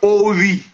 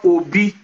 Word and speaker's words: Ovi: Igbonization of them, properly, even a lot of Edo people have problem pronouncing the V, sounds, the consonants in Benin. So the V has not been thrown away over the years, and it's now ascribed as the word Obi instead of Ovi.